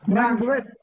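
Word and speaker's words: 'Ndrangheta: the triads, Yakuza, and the third one was Nangrande. How do you pronounce that? Nagrande? Professor Nicaso will know this. Nangrande, yes.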